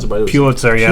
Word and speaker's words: Pulitzer: Is that how you pronounce it? By the way, Pulitzer. Yeah, Pulitzer, that's how snobs like Crocker pronounce it.